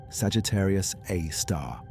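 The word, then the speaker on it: Sagittarius A*: Sagittarius A star, abbreviated SG A star, pronounced Sagittarius Aar.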